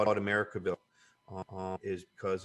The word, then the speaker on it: Americanville: Did I pronounce that right? Yeah, Americanville.